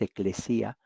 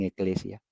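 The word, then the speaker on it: ἐκκλησία: La palabra es eclesía, pero al pronunciar mal le decían eclesia.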